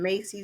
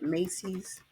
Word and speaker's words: Macy's: This was from Macy's, not Macy, but Macy's.